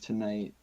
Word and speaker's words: TNGHT: Um, so for people who haven't heard of Tonight, it's electronic trap, like really core EDM. You know, um, a lot of vocal samples are used, but these guys just take you on a journey. And it's spelled TNGHT, all caps.